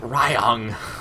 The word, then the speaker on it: Ryung: I read the Y. Ryung. This is a lot easier for me because in Norwegian the Y is pronounced differently. Yeah, it's pronounced E, Ryung, so it's very much easier for me to say it that way.